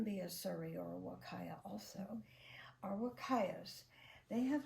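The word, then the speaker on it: huacaya: other breed is the wakaya and that's spelled Hua c a y a but the Spanish people pronounce that H like a w so all of the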